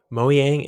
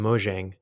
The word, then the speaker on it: Mojang: I've heard it pronounce moyang and Mojang which is correct um well they're Swedish so I think that the JS belt is pronounced with a like a y so I've I believe